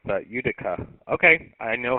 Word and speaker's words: Utica: Utica, Uniform Tango, India, Charlie, Alpha. Okay, yeah, I just did not want to mispronounce that. Utica.